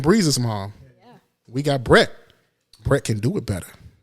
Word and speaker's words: Brett: First name Brett. Brett like Brett Favre. So Brett. That's right.